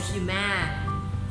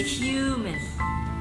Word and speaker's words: human: So you say human, human, You don't say human, you say human. So the first syllable is stressed, human.